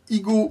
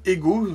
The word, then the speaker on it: Ego: tout de suite par batman igo ou ego selon vous prononcez à lombez ou à la française c'est un très bon